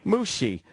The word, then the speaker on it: Moushey: how do you pronounce that last name? Moushey. Moushey.